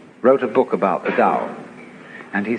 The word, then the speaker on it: Tao: is all the dow t AO pronounced dow in the mandarin dialects tao in the chung